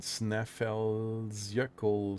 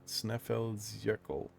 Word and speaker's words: Snæfellsjökull: It's called Snæfellsjökull, something like that. Snæfellsjökull. Jökull. That's the way it's being pronounced. Snæfellsjökull.